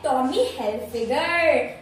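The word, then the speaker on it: Tommy Hilfiger: मैंने गेस किया था, पर इसका प्रोनाउंसिएशन है सही वाला वो है टॉमी हिल्फिगर टॉमी हिल्फिगर टॉमी हिल्फिगर figure से याद रखिएगा टॉमी हिल्फिगर।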